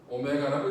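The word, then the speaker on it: ω: 자 딱 보면처럼 보이지만 쟤는 알파벳이 아니고 그리스 문자입니다 오메가라고 읽어요 뭐라겠다 오메가 이렇게 얘기해도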